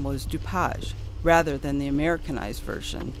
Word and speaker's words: DuPage: South by the way the correct and original pronunciation of his name was DuPage rather than the Americanized version DuPage that we use today at least we get